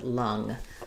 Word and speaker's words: lung: So looking at these three words, for lawn, we have the ah vowel. For long, long, we also have the ah vowel. Here we have the n, here we have the ng. And for lung, we have the ng, but the schwa vowel.